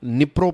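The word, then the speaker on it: Dnipro: का नाम है निप्रो इसका स्पेलिंग होता है निप्रो लेकिन इसको निप्रो प्रोनाउंस करते हैं दी जो है वो साइलेंट राहत है और कहो का दम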